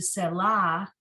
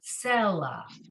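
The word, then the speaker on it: סֶלָה: And then the last word, selah. So the first letter has that pronunciation indication next to the 3 dots in a triangle, selah, okay? As opposed to selah, it's selah, okay?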